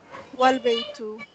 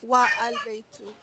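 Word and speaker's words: والبيت: Here the alif is pronounced, but if it is preceded by wa, meaning and, the alif is dropped and the phrase is pronounced wal-baytu, not wa-al-baytu.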